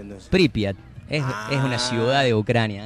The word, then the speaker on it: Pripyat: ¿Cómo se pronuncia entonces? Pripyat.